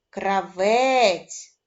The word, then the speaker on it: кравець: е голосний М'який приголосний визначимо наголошений склад Кравець і наголошеним буде другий склад якщо саме такі у